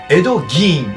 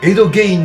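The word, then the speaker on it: Ed Gein: 本人によると自分の名前の正確な発音はエド・ギーンであるというが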